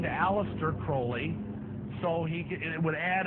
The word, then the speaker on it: Crowley: about was Alistair Crawley he likes to have his name pronounced Crowley a rhyme with holy and uh the Satanist